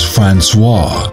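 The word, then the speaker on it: François: my middle name is franois you can call me franois it rhymes with chainsaw we're party animals aren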